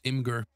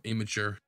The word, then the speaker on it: Imgur: image hosting you use i'm going to use imgur or imager however you want to pronounce it and then i can just drop